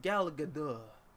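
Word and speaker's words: Gal Gadot: arcs uh oh uh repeat after me it's pronounced gal gadar okay uh gal gadar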